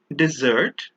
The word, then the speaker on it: dessert: The one on the left is pronounced desert with a single S, and the one on the right at the top is dessert, also with a single S.